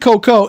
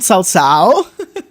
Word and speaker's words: Cao Cao: I'm surprised that you knew how to pronounce Cao Cao. A lot of people pronounce it Coco.